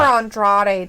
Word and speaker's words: Andrade: Roll your R's. Don't just roll them from Humberto. You roll it for Andrade too.